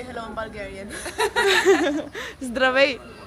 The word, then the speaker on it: Здравей: Zdravei. Здравей.